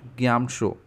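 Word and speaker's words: Gyamtsho: ये इसका Pema ग्यामशो, GYAM, game, T silent है, शो, TSHO, ग्यामशो, पेमा ग्यामशो।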